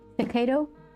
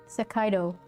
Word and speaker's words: Hokkaido: Hokkaido? No, that's not how you say it. Hokkaido.